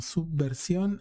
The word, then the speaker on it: Subversión: En los 3 canales estamos como Subversión, S mayúscula, U, espacio, B labial, espacio, versión con acento en la O, en los 3 canales.